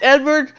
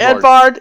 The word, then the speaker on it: Edvard: all right so you have still time it's Edward Edward Ed Ed Edvard Edvard because it's not with a V and